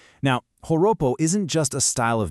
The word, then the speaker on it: Joropo: And it's exactly here, right among these Llaneros, that we find Joropo, pronounced Horopo. Now, Joropo isn't just a style of music or some regional dance, not at all.